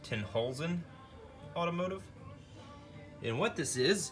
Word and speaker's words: Tenhulzen: posted up this um not positive but i'm assuming that's pronounced ten holes in automotive and what this